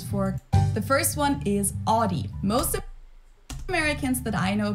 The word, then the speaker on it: Audi: thousands of classes for the first one is Audie most Americans that I know pronounce it like I I say Audi that's